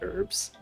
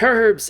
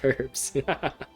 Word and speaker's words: herbs: our region americans say herbs they say like they pronounce the word with a silent h but it's herbs it's got an agent it is pronounced herbs booboo pharmacy always runs